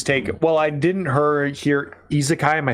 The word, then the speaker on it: isekai: But weirdly enough, we've not really seen like the isekai genre penetrate the video game landscape outside of like visual novels based off of isekai anime and such.